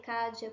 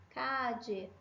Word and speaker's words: calle: variação, eu daria uma dica para você de você usar a variação que acontece no México, que é essa variação aqui do di, llave, calle, pollo. Eu falaria para você escolher essa porque a pronúncia dela é a mais clara, ok?